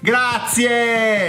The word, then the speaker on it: grazie: Grazie, grazie! Grazie, with an air sound at the end.